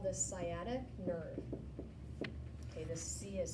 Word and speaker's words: sciatic: nerve in the body it is called this sciatic nerve okay this fee is silent seiyya and you may have heard of